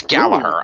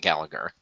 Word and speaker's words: Gallagher: gulaka and Jack Gallagher it's Gallaher I might I think I spelled that wrong you spelled it right no it's Gallaher not Gallagher yeah no that's bolt right that G is silent okay good choice right